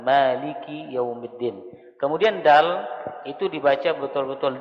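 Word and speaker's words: مَالِكِ يَوْمِ الدِّينِ: Maliki jangan Malik yaumiddin kadang-kadang sering kita mendengar kafnya disukunkan Maliki yaumiddin itu salah itu keliru tetapi harus dikasrahkan Maliki yaumiddin kemudian Dal itu dibaca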